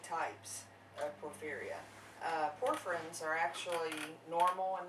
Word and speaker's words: porphyria: They're here wanting to spread some knowledge about porphyria. Am I saying that right? Porphyria? Porphyria. Yes. See, butchered it already.